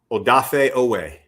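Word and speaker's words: Odafe Oweh: Yeah, it's it's pronounced Odaf Ooway.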